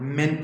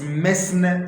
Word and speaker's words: mesne: understand the difference between areas of friends and men prophet remember the pronunciation is men prophet sorry it's me is men prophet but the spelling is me